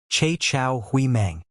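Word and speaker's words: 叉: The pronunciation is cha.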